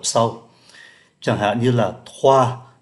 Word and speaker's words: trois: Chẳng hạn như là trois thì không phát âm cái từ S cuối, quatre, cinq thì lại